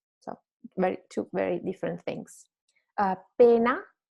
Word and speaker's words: pena: Pena, penna, pena, one N, penna, double N. So just longer and a bit stronger.